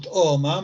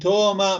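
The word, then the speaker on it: ܬܐܘܡܐ: ساكنة أليف واو، تأوما، ولكن ما نقول تأوما مثل ما قلت لك سابقا، أنه دائما لما يجي في حرف ساكن قبل أليف متحركة، فحركة الأليف في النطق وليس في الكتابة تذهب إلى هذا الحرف.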